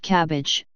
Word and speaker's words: CABG: graft is left out the most frequently used acronym for this type of surgery is CABG pronounced cabbage pluralized as cabgs pronounced